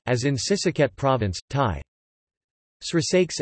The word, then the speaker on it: ศรีสะเกษ: The digraph shri, Indic shri is regularly pronounced c, c, as in Sisaket province, Thai.